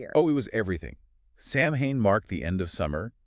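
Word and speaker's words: Samhain: They celebrated a festival called Sam Hane. It's s a m h a i n but pronounced soen.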